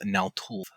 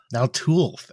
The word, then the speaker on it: Naltulth: The way to say it is Naltulth. Naltulth.